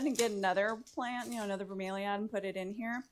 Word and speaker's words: bromeliad: I know some people call them bromeliads, but it's bromeliad. At least that's how we pronounced it when I was a florist.